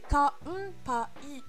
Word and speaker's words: Kanpai: Alors, on va légèrement entendre un M, comme dans Senpai, mais ça va s'écrire avec un N. C'est Kanpai, Kanpai. Mais niveau phonétique, on aura tendance à entendre un M.